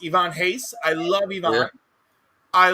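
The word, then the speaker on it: Ivan Reis: Ivan Reyes his name is pronounced Ivan Hayes.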